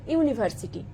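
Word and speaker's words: university: এ বসবে যেমন এ ইউনিভার্সিটি এখানে ইউ টা হচ্ছে ভাওয়েল তাহলে হিসেব মতো এখানে তো এ বসার কথা নয় কিন্তু ইউনিভার্সিটির ইউ টা ভাওয়েল হলেও এটা ইউর মত উচ্চারণ হচ্ছে তাই এখানে এ বসবে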